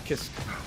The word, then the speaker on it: Kiske: Oh, is it actually Kiske? Kiske? Interesting. Because Kai's name, I feel like the pronunciation is... Actually, let me look up the freaking kana, so I can actually read it. Let me just look up Kai Kisaku. Yeah, no, it's Kiske. It's Kiske and Guilty Gear.